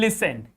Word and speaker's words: listen: that this word or in this word the T is silent. You have to keep in your mind, you have to be very focused, you have to keep revising all the time, then you can understand the word in which T is supposed to be silent. Like in listen.